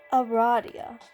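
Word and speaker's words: Aradia: It is pronounced Ah-RAH-dia. That makes sense, although you just might cannot fathom her name being pronounced any other way. Your new potential friend Ah-RAH-dia is looking for a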